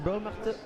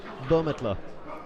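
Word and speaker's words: Bürmetler: I need to go talk to Stefan Burmelter. I need to learn how to pronounce it because I keep saying Burmelter and it's not Burmelter, it's Burmetler.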